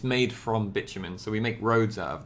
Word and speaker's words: bitumen: liquid it does not boil and it's called bitumen this is how this is pronounced bitumen yeah it's a great name right bitumen very very long carbon chains here guys okay